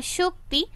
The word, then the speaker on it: শকতি: তাই তার কাছে আমরা শক্তি ও সাহস প্রার্থনা করি। সকতি পড়তে হবে শকতি। শক্তি বা শক্তি উচ্চারণ করলে ছন্দে ভুল হবে। সেজন্যই শক্তি না লিখে শকতি লেখা হয়েছে।